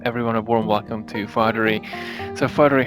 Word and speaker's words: Fatheree: welcome here for the very first time Fatheree from the TexTrek podcast. I hope I pronounced your name right.